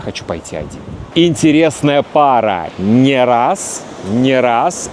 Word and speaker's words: не раз: Не раз, не раз. И здесь не, но ударение не падает на не раз и ни разу.